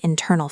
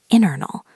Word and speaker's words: internal: pronunciation of that word internal facing again because it's a tricky one. The letter T in internal is often very soft in American English. It almost sounds like internal.